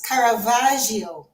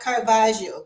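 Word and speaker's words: Caravaggio: So yeah, I was just telling the audience and people who will see on the on the playback that it's Caravagio, not Carvajio.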